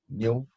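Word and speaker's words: ν: You pronounce it as nu.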